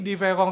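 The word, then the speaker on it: différance: derida ya Diong Ya tapi diverong ini diucapkannya sama dengan kalau a ini e gitu ya sama diucapkan dan anda tidak bisa menemukan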